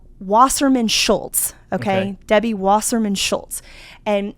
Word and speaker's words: Wasserman Schultz: says that um Debbie Wasserman shoe Debbie who I can't ever say her name. It's uh Wasserman Schultz.